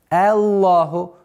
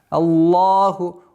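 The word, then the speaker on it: اللهُ: При произношении лафзуль джаляля в начале аята «Аллаху», что вот такое удлинение в долготу не должно переходить. Аллах, нет, Аллаху, Аллаху. Лам, лафзуль джаляля твердый, она произносится твердо. Аллаху, ударение, Аллаху.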